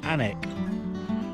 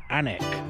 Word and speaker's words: Alnwick: it hardy hardy of anak allnuic pronounced i believe anik because i like quality